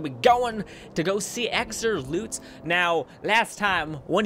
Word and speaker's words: Xur: we're going to be going to go see exer loots now last time one of you guys were like hey it's pronounced Zerg not X Zerg what the